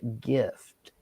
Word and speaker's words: GIF: Giraffe versus graph or gif versus gift. I mean it it's GIF is literally gift without the T.